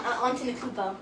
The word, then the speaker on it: Antetokounmpo: Yeah, Antetokounmpo.